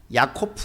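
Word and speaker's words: יעקב: 단어의 히브리어 발음이 비슷합니다 야곱 이라는 단어는 야코프 라고 이렇게 되어 있습니다 그때 실험 이라고 하는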